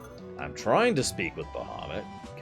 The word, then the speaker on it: Bahamut: it's based off of Dungeons and Dragons but Bahamut which is pronounced baham is in ff1 as well he's